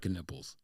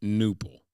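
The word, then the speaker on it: Knueppel: That's twisting my knipples. That they're not just not giving the K its proper silence, but that they're pronouncing UEPPEL, knipple, as opposed to newple.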